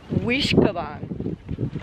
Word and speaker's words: Uisge Ban: also is looking up how to pronunciate that waterfall and had a history and it's wish kabang and that is not at all what it looks like you said it meant